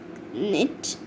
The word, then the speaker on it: knit: sunning herself the silent the letter k is is silent in these birds nose knit knee knob knocks nails